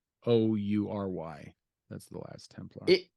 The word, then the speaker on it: Khoury: Khoury, something like that. It's Khoury.